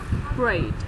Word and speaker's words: Braid: Cái chữ R với chữ L chị. Braid. Không phải blade chị. Braid. B-R-E-I-T. Braid.